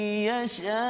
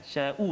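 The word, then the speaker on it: يشاء: Tak ada hamzah. Tu bahaya. Itu tak. Jadi tak sempurnalah kalimah tu. Sya tu sya, kan? Sya'u tu. Jadi kena hati-hati.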